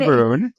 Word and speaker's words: Gaborone: And yes, I said the G with the proper pronunciation. Um, Not then, Gaborone.